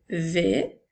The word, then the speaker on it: vais: Nous allons faire maintenant « vais » qui s'écrit avec le son « v » et le son « e », « a », « i », S. Attention à la lettre S qui est une lettre muette.